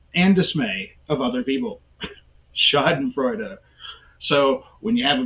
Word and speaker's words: schadenfreude: word here schadenfreude schadenfreude i even have the pronunciation there and i messed that up chad and freuda schadenfreude what is schadenfreude who